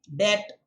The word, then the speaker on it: debt: A silent B, okay, doubt, debt.